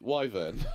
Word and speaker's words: Wyvern: Do you want to do this one because I can never pronounce his name properly? It's Wyvern.